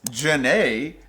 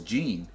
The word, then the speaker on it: Jhene: Apparently, it's Janae. I've spent the last 10 years thinking it was Jean. Jhene. I thought it was Jean. Apparently, it's Janae.